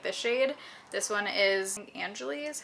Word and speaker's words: Angeli: This one is Angeli is how it's said.